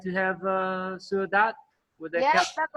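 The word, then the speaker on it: sữa đặc: Is dat sua dat sua dat? I always get it wrong, backwards, you know. Sua dat, yeah, because yeah, the noun first, yeah, sua dat.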